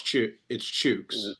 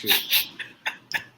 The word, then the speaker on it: Chooks: First of all, it's Chooks. Is it Chooks? Okay. Yes, it's Chooks.